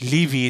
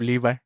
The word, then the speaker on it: Levi: of the bone zone i used to pronounce levy instead of levi it's why i do